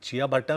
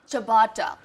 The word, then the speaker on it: ciabatta: देखो, अगर आप चिया बट्टा करके बुलाओगे तो पता नहीं तो how do you वो pronounce देंगे it? भी नहीं आपको। तो कैसे प्रोनाउंस करते हैं इसको? चबाटा। चबाटा। चबाटा bread। It's और एक चमाटा मार देंगे। चबाटा। It's चबाटा। First time I swear on you.